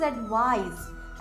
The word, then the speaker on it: advise: Next is एडवाइज। एडवाइस में एस को Z pronounce किया जाता है और ये एक वर्ब है।